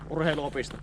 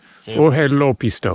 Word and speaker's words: Urheiluopisto: So you have to cut the words a little bit into pieces how you pronounce it.